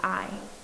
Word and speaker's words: Ai: next city which was i i think it's pronounced like it it's just a i all right so then